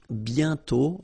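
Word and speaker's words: bientôt: And then the final T is not pronounced banto.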